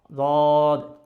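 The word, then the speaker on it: ض: কিন্তু ওইভাবে যদি উচ্চারণ করি তাহলে কীরকম হবে, যেমন দদ দদ দদ হবে, এভাবে জায়েজ। নবীজি সাল্লাল্লাহু আলাইহি সাল্লাম কীভাবে উচ্চারণ করতো দদ? নবীজি সাল্লাল্লাহু আলাইহি সাল্লাম জিহ্বার গোড়ার দুই কিনারা লাগিয়েই উচ্চারণ করতো।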